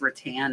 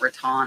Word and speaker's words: rattan: Somebody let me know it's rattan, not rattan.